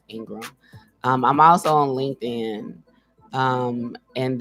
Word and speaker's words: Ingraham: is at Vina and it's built in graham ingr aham pronounced Ingram I'm also on LinkedIn